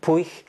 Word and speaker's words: Puig: But I'm really fascinated by this writer called Manuel Puig or Manuel Puig. Both versions of the pronunciation of his family name are used in the Spanish-speaking world. I'm not going to go into why that is, but it's in Argentina he's known as Manuel Puig.